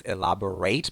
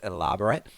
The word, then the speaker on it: elaborate: going to require elaborate pay attention to the pronunciation of this adjective the verb is elaborate but the adjective is elaborate recitation when you recite